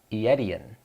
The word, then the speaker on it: Aetion: It is how you pronounce it, I got it. Aetion.